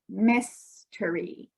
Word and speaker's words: mystery: or the accent so when we say mystery we put our we stress or say stronger this part mystery but when we add